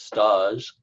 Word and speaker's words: stage: ever heard of stocking it's spelled stage s tage but it's stodg and that is when